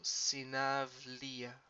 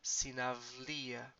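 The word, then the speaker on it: συναυλία: Remember here, if you have this vowel, this diphthong combination before um, a voiced consonant, so L is a voiced consonant, is gonna sound like avi. So sinavlia.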